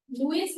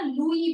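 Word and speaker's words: Louis: का नाम क्या था, लुइस नहीं होता बेटा, फ्रेंच लैंग्वेज में हम ना लुई बोलते हैं, ठीक है, लुई, इस हम कभी भी नहीं प्रोनाउंस करते हैं, लुई, ठीक है, किंग लुई 16, रूई मत लिख देना कहीं, ठीक है, किंग लुई 16, लिखना लुइस ही है लेकिन प्रोनाउंस करते time will go with लुई, ठीक है, किंग लुई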